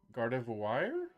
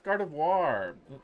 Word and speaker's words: Gardevoir: How do people What how do people mispronounce that? Gardivoir. Gardavore. Gardavore. People think Gardevore. Yeah, I've heard that before. Gardavore. That's what Cheesel said. Gardavore. Gardavore. A lot. Yeah. Yeah. No, that's Gardevoir.